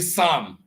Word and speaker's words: psalm: Wherever you see Psalm, okay, but it's written with a P, and then sword, the W is not pronounced.